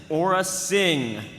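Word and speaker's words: Aurra Sing: character for round four the official pronunciation for our next character is Aura Singh number of dialogue lines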